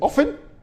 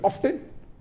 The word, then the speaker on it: often: n some will say often some will say often previously will often then it became often now new people are saying often is correct T is not silent it should be pronounced some said tisan and